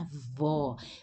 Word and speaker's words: avó: seis minha avó ou aqui a pronúncia avó minha se fosse masculino seria meu avô isso provoca Muita confusão